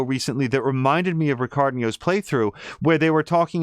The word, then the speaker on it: Ricardinho: RICARDINHO Just Vibing. The rest of it is the way that you would expect, but Ricardinho is the H comes out as a Y when pronounced here, so do check that out as well.